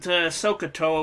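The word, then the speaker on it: SOH CAH TOA: of an acronym because it is pronounced like a word like scuba is not like IRS or something which is an initialism but we've got sohcahtoa which is a fun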